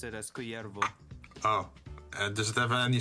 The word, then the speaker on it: Kullervo: Culervo. Because if it Oh. was Mexican, we would pronounce it as Cuyervo.